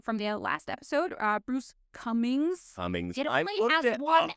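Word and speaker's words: Cumings: Bruce Cummings. It only has one N. Why is it pronounced that way?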